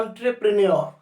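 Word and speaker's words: entrepreneur: इसको बोलने का काम करते हैं एंटरप्रेन्योर। दोस्तों इसको एंट्रे मत बोलना, इंट्रे मत बोलना, इसको ऑ से प्रोनाउंस करते हैं।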